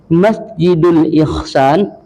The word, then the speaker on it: Masjidul Ihsan: Masjidi Ihsan. Nah, salah nih. Salah, Pak. Ya, Pak ya? Salah. Sudah masjidi pula dibacanya. Tak pula ihsan bacanya kan? Salah itu kan? Salah. Kalau Bapak buat nanti boleh Masjidul Ihsan kalib lam boleh.